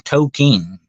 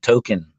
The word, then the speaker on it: Tolkien: By the way, he pronounced his name Tolkien. By the way, not Token, but Tolkien.